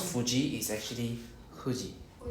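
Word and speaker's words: 富士: Because there is no f actually it's supposed to be h sound. So is h u. So how we pronounce fuji is actually huji.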